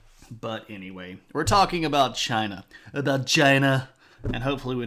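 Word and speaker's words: Qin: of the previous Dynasty called the Chin Dynasty and I know it's spelled with a Q but the language of the ancient Chinese people does not directly uh do a good job of translating into English and that's okay because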